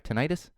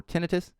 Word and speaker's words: tinnitus: in my house because i have tinnitus or tinnitus as some people i i i'm not going to argue about the pronunciation on it because even my wife who's not not british because i know in britain it's tinnitus she calls it that and i i call it tinnitus but because of my